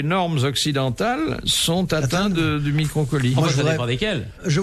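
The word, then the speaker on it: microcaulie: Alors ça s'écrit micro comme un micro et ensuite C-A-U-L-I. Ah, microcolie, ça change microcolie.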